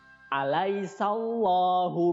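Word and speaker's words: أليس الله: Nah, cara membacanya alaisallahu. Nah, di situ alaisanya dibaca biasa, kemudian huruf sa-nya langsung masuk ke lafaz Allah, ya. Jadi di situ ada lam jalalah. Alaisallahu, di situ harus tebal, ya, dan dibaca panjang 2 harokat.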